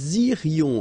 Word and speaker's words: irions: Okay, then, nous irions. Okay, so let's make this little liaison between the two. Nous irions. Final S not pronounced.